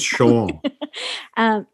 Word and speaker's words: Chauvin: I believe it's Chauvin.